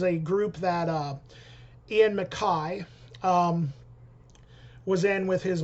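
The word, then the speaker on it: MacKaye: a new band with Ian Makai which that is the proper way to say his name I've been saying Ian McKay for years um but I guess yeah I guess I guess Makai is the right way to say it just like I've been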